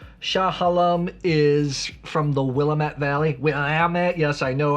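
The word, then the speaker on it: Willamette: halam is from the willat valley will yes I know I like to say mispronounce Willet to get people mad this is very good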